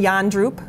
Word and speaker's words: Jandroep: My name's Yandroop. It's pronounced yawning and drooping, but I try to not be boring.